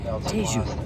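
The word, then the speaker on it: Tejo: Um, also on the river in the background, this is a spelled T H A S, but they pronounce it Tu.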